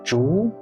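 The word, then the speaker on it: 竹: means pig an animal in the second tone zhu it becomes bamboo when pronounced in the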